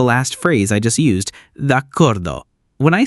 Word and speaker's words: d'accordo: I pronounce it d'accordo as if it were a single word.